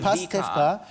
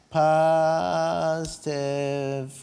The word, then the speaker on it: Pastewka: Pastewka. Pastewka. Genau, Vorname Bastian. Bastian. B-A-S-T-I-A-N, so wird es buchstabiert.